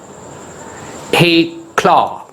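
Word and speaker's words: éclat: c l a t a claw stress is on k second syllable you must know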